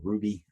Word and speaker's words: RWBY: I think you pronounce that Ruby.